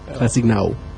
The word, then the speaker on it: Classik Nawu: Classic null. Yeah. Oh, is it pronounced classic null? Yeah. Null. So I've been saying n woo.